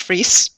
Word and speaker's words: Fries: pointing to the name it looks like fries but it's a German name pronounced free and um I can